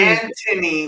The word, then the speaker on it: Anthony: Anthony with a silent H, not a silent H.